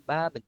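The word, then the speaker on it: 밥은: Jika huruf bacim bertemu huruf vokal di awal struktur kata berikutnya, maka pengucapan bacim disambung dengan huruf vokal tersebut. Contoh nih, tadi yang saya bilang, bab itu nasi, lalu jika ketemu partikel topik itu en atau nen, maka dibaca jadi baben.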